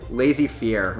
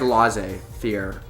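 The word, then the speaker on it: laissez-faire: can never pronounce it it's like lazy fear but it's not I always want to say lazy it's like L fear or Fe L Fair it's like fair but not fa um it doesn't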